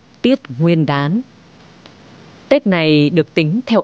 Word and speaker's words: Tiết Nguyên Đán: là buổi sáng sớm cho nên đọc đúng phiên âm phải là là tiết Nguyên Đán Tết này được tính